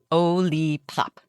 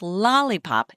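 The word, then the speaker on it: Olipop: Ollie pop. It's not lollipop like lollipop. It's Ollipop.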